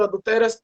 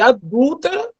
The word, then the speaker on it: adúltera: seria eu adultero tu adulteras ele adultera ou ela adultera aí ele foi lá e e trocou a sílaba tônica de adúltera por adultera ainda que você não